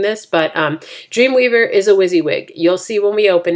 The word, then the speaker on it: WYSIWYG: what you see is what you get it's pronounced WYSIWYG and it refers the HTML that displays text